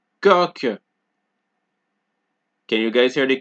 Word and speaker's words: coq: Okay, so QU as well as Q at the end of a word are both pronounced like K. Example, question, quelle, manquer, 5, coq.